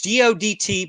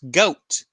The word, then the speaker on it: Godt: you say my name it's g o DT but it's pronounced goat goat go DT not God not goatee not anything else it's